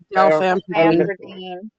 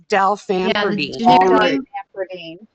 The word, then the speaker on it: Dalfampridine: Dalfampridine.